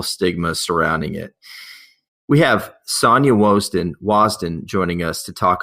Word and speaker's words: Sonja: And I want to make sure that I'm pronouncing your right. Is it Sonja or Sonja? It's Sonja.